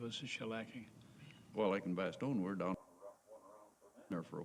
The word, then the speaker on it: Bastogne: I mean, bestene or something. It's not best. That has a a in it. And away we go. When we left for Baston, we were short of equip. That's how you pronounce it.